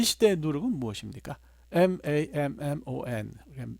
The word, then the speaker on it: mammon: M-A-M-M-O-N 영어로 mammon이라고 읽고 뭐 이거를 독일어식으로 읽으면 맘몬이라고 그렇게 읽는데요.